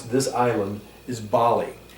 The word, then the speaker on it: Bali: pronounce this island is bali a's are always ah bali and eyes are always e or like in bali bah-li another quick example is